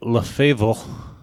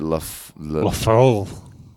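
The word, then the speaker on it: LeFever: But it wasn't R-E, it was E-R at the end.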